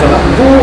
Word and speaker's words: Vonarburg: Je m'appelle Elisabeth Wallarbourg, ça s'écrit Wallarburg et ça se prononce Wallarbourg, c'est un nom suisse-allemand si vous le demandez.